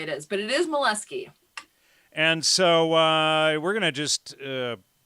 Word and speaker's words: Moleski: Oh, no, the way you pronounce it is how you get teased. It's Moleski.